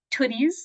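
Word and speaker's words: Tootie's: borrower called toies Tempe pronunciation note toties like toots um this is a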